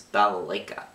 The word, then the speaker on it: balalaika: That's a hard word to pronounce, it's balalaika.